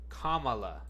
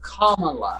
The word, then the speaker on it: Kamala: There's a correct way. I remember it. It's it's like the pronunciation. Kamala. It's Kamala.